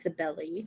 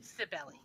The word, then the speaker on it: Cybele: Pronunciation is Cybele. Cybele.